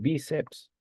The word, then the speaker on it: bíceps: en la penúltima sílaba lo mismo pasa con bíceps profesor bíceps es una palabra grave mire la mayor fuerza de voz está en la penúltima sílaba Okay pero fíjate cómo